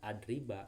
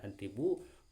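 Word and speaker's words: أَضْرِبَ: Maka di mana-mana ada harap lan di sini, maka sesudahnya itu yaitu adrib, maka harus dibaca nasab, lan adriba bacanya, bukan lan adribu, bukan lan adribi, tapi lan adriba amron.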